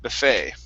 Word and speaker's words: buffet: one for you is buffet okay the stress is on the end and the e t is more of an a sound this is a french word buffet okay instead of awesome